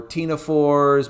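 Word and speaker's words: ctenophores: We like to name things like nidarians or tenophores. Both of those words even though you don't hear a c sound uh there is a c in the front of them which I know that's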